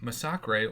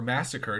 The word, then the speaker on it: Masacre: have to do with Masacre or Massacre, depending on how you like to pronounce his name, because he's a champion